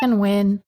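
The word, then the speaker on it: Wynne: we don't learn lessons Okay people are doing win so I guess it's win that's a win for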